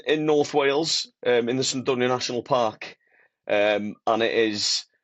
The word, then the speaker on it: Cnicht: Mate, I hope I gave it like Cnicht. That is how you pronounce it, isn't it? No, go on, Paul. Have a go. Cnicht. You got a at the end, Cnicht.